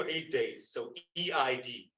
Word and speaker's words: Eid: So E-I-D, right? If you want the English word, I might pronounce it with a guttural I sound or E sound at the beginning, Eid.